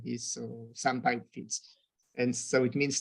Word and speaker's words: SamPy: And the name is just because it's short and it kind of rhymes with other scientific library names like NumPy, SciPy, and stuff like this. So SamPy fits.